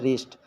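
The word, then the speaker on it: wrist: डब्लू आया है इसलिए यह भी पढ़ा जाएगा रिस्ट यह ब्रस्ट नहीं पढ़ा जाएगा रिस्ट पढ़ा जाएगा क्योंकि आर से पहले डब्लू आया है तो डब्लू साइलेंट हो गया और इसमें आप देख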